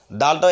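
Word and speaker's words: دال: তাহলে জিম হা খ এরপর আসুন দাল দাল দালটাও একই জায়গা থেকে অর্থাৎ জিহ্বার আগা ওপরের দুই দাঁতের ঘোড়ার সঙ্গে লেখে দাল তাহলে উচ্চারণ হবে কি দাল দাল এরপর দেখেন জাল জাল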